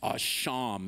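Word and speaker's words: אָשָׁם: The Hebrew word that we translate guilt in this particular verse is a word pronounced asham, and it means an offense, it means guilt, it means debt, it means an act deserving retribution, or rather restitution.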